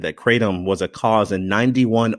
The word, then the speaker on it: kratom: lawyers in North Florida so we'll say kratom and any of our more enlightened listeners in San Francisco or Milan want to say cray Tom or whatever other pronunciation they can do that it's